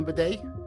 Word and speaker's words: bidet: I have no problem with bidet rhyming with gay either.